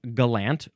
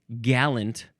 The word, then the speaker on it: gallant: Now the third form is pronounced galant or galant. None of this gallant pronunciation. None of that nonsense. We are emphasizing the second syllable here.